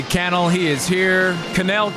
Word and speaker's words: Cannell: Canel Kennel. I always say it differently. You said it right. You said it right. Canel.